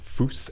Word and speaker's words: Fus: once we learned that this is pronounced foose f-u-s then we can see